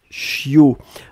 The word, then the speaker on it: chiot: c'est ce qu'on appelle un chiot on écrit ça ch io t on ne prononce pas le thé finale je veux un chiot